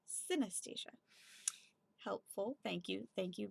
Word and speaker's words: synesthesia: confusion of the senses if you want to know how to pronounce CIN CIN at SIA it sounds like anesthesia anesthesia but with the sin at the beginning so synesthesia helpful thank you thank